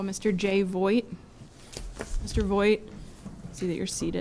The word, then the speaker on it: Voigt: My name is Jay Voigt. It's spelled V as in Victor, O-I-G-H-T.